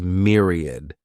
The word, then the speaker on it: myriad: The next noun is myriad. This word has three syllables and the stress is on that first syllable. Mere sounds like mere. Myriad.